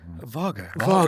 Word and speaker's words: Wago: You've gone to, how do you say it? Vago.